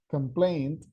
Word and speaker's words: complaint: right complain and there imagine how important is the pronunciation of that t by the end complain complaint now yeah huge difference